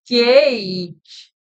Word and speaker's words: Guage: And yeah, so this is Guage. Yeah, and it's spelled G-A-U-G-E, Guage.